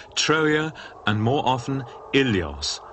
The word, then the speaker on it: Ilios: In the Iliad, Homer calls the city by two names, Troia and more often Ilios, originally pronounced Willios.